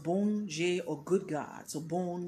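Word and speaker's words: Bondye: god the supreme deity to be bonjour it's pronounced boon jay or good god so born meaning good je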